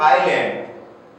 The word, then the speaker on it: island: The next one, group of आइलैंड यानी द्वीप समूह, आइलैंड का मतलब होता है द्वीप, ये आइसलैंड नहीं है, एस साइलेंट है, आइलैंड इसका करेक्ट प्रोनाउंसिएशन है।